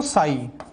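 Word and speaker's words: psi: इसे कहते हैं बच्चों साई। क्या कहते हैं बच्चों इसको? साई कहते हैं। Here P silent. तो NLM ये सीक्वेंस ही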